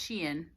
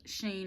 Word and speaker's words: Shein: There's that website called, I believe it's pronounced Shein, but a lot of people say Sheen or Shine.